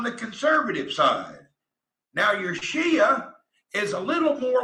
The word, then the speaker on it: Shia: know anything about the shia muslim you didn't say it right it's shia or sunni so here's the difference